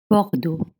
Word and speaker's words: Bordeaux: Bordo is spelled B O R D A U X. So let's think about it. Bordo. When you have O in front of R, you make O. You open your mouth very wide. O. bar and then when you see e au that's o so in bord you have two different o sound one is high pitch